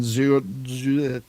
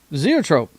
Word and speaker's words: Zoetrope: And based on that, he made a deal with Warner Brothers for American Zoetrope. Oh, yeah, I can't say it. Zoetrope.